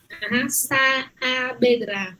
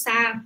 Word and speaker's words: Saavedra: Saavedra. No tenemos sa, sino Saavedra. Tú tienes que pronunciar muy claramente.